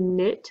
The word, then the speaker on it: knit: look for clues here i can get rid of these k's that are next to an n because i know they will be silent oh there's a silent